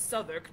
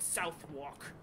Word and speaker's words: Southwark: not the tames and it's Southwark not South walk it's your city your